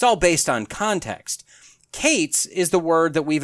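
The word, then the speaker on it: קֵץ: The first is qes kates is how that's pronounced.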